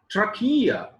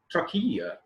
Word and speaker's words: trachea: For example, see the another example, trachea, trachea. Again here CH is k.